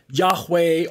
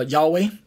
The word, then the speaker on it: Yahweh: God the yhv H otherwise pronounced Yahweh or Jehovah or Jehovah or um some people say yahuwah things like that so I myself favor uh Yahweh Yahweh Yahweh so um